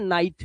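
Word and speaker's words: knight: इसलिए इसे निट नहीं पढ़ते। इसे पढ़ते हैं नाइट। क्योंकि जी एच टी से पहले अगर आई है तो उसका उच्चारण होता है आई।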